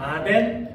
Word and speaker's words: 아테네: 아덴 아테네. 예. 이름이 이제 발음이 뭐 아테네나 아덴이에요. 이제 비슷한 이게 조금씩 발음하는 방법은 다릅니다만 예 다 비슷한 거 지금 보이시죠?